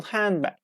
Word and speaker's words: handbag: This optional silent D can also be heard, or rather not heard. For example, handbag, handbag.